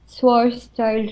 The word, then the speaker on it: Schwarzschild: So, the radius, Schwarzschild radius, I guess.